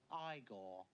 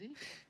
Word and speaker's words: Igor: No, it's pronounced Igor. But they told me it was Igor. Well, they were wrong then, weren't they?